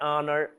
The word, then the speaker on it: honor: Air, OK? Air, honor, our, honesty. Então, a gente quebrou a nossa regra. Não existe uma regra principal. né? A gente sempre fala isso em que o H tem som em todas as os inícios tem som de R. Não, nem sempre.